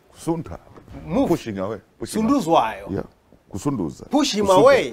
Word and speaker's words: Sunduzwayo: Now I realize I've been pronouncing your name wrong. You're not the only one. It's okay. You should have corrected me at the beginning. It's okay. It doesn't matter. It's Sunduzwayo. Sunduzwayo.